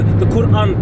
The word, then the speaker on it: Quran: The Quran's just a fake copy of the Bible. No, you said it. You said it wrong, brother. It's the Quran, brother.